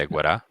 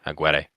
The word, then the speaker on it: Aguirre: Did I say Aguirre? Yeah. Nah, Aguirre.